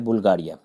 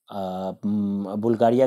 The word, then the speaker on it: बुल्गारिया: उसके बाद जो जस्ट ऊपर हम लोग बढ़ेंगे तो ये है बुल्गारिया। बुल्गारिया कहिए या बल्गेरिया कहिए, हिंदी इंग्लिश का प्रोनाउंसिएशन अलग अलग है, तो इसको बुल्गारिया कह सकते हैं, बल्गेरिया कह सकते हैं।